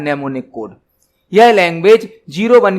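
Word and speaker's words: mnemonic: उपयोग किया जाता है ने यहां पर एम साइलेंट रहेगा ने कोड का यूज किया जाता निमोनिक मतलब कुछ शॉर्टकट यहां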